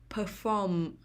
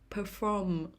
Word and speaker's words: perform: second syllable originate originate perform perform the stress is on the second syllable perform perform performance performance the